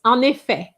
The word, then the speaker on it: un effet: It's un effet. Un effet, the T silent and here you have a liaison between the N and the E.